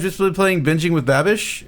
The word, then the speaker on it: Babish: been playing binging with babish or bubbish which whichever it is you said it right the first time babish babish okay cool benji